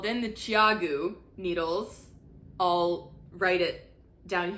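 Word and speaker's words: ChiaoGoo: They are pronounced Chiagu, not Chiagu, Chiagu, like CHOW chow and then GOO goo.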